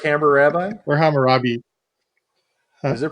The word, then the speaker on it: Hammurabi: because I like pronounced like hammer rabbi or Hammurabi times are pronounced hammer rabbi no that's all kills for I like California I shout out to mr.